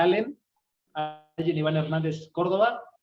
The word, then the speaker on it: Allen: estoy como mi nombre alguien con doble l Allen Iván se pronuncia Allen hay en Iván Hernández